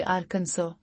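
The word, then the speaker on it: Arkansas: आर्कन सास रियासत हैं आर्कंस के हिज्जे से बेवकूफ ना बने आखिर में एक एस है लेकिन हम उसे आर्कंस आर्कंस कहते हैं इन रियासतों टेनेसी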